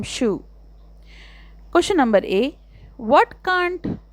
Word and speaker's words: Scheu: perhaps you did identify when it comes to pronouncing my name I am Shu question number a what